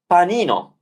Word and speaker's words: panino: said so let's pronounce and then finally let's pronounce panino panino sandwich panino that's how easy it is